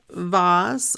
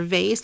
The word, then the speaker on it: vase: straight we have this Vaz or vase let me know do you say vas or do you say vase put it in the